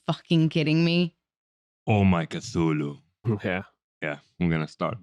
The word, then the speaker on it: Cthulhu: Oh, actually, we're gonna pronounce Cthulhu with a K. So Cthulhu.